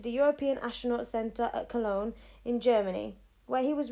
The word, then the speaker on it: Cologne: his family now this i did check the pronunciation of this because i wasn't entirely sure i can't pronounce it colon but i think it's cologne although peak's time in space